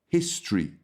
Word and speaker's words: history: And another word, history. Don't say history. We don't say that. Forget the O. We say history.